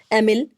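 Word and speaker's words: Émile: ठीक है, तो देखिए याद रखिएगा, इनकी बड़ी फेमस किताब है सोशल कॉन्ट्रैक्ट, और एमिल तो ज़्यादा ही इनकी, एमाइल भी इसको इंग्लिश में प्रोनाउंस करते हैं, बहुत फेमस किताब इनकी है, ठीक है।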